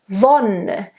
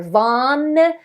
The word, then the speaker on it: Wonne: Wonne. It's an open O. It's not wonne or wanne. Wonne. Wonne. A nice voiced V in the beginning and a nice O.